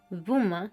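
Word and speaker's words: Böhme: históricas a partir de su muerte en 1624 vuma que se escribe B boe H me no ha dejado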